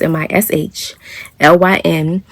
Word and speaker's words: Michelin: It's pronounced Michelin. And no, it's not like the tire. It's just Michelin, just like it sounds, Mishlyn.